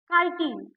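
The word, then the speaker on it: chitin: है तो ये काइन की बनी होती है स्पेलिंग मिस्टेक है कान नहीं काटीन काटीन की बनी होती है ठीक है अब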